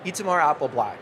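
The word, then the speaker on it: Itamar Apelblat: And thanks for pronouncing my name exactly how it sounds.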